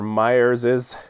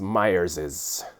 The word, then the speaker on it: Myers's: notice that first that there is an extra s in there so it makes me think of Gollum in The Lord of the Rings Myers's I think you're supposed to just pronounce it Myers rum so I'm going